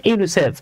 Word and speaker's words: UNICEF: আপনি কিন্তু কখনোই বলেন না UNICEF, বরং আপনি এটাকে ওয়ার্ডের মতো উচ্চারণ করছেন ইউনিসেফ।